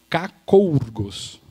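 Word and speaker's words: κακοῦργος: A pronúncia dela, né, um transliterado aqui do grego, é kakourgos.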